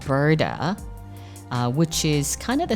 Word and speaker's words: Brda: First of all, it's spelled Brda.